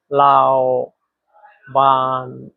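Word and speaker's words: 老板: এখানে দুইটা শব্দেই চাইনিজের তিন নাম্বার টোন ব্যবহার করা হয়েছে। লাও লাও। দেখেন কিভাবে বলতে হয়। লাও লাও। আপনিও আমার সাথে সাথে উচ্চারণ করেন। লাও এটা হচ্ছে চাইনিজের তিন নাম্বার টোন। উপর থেকে নিচে আবার নিচ থেকে উপরে লাও বান বান লাওবান।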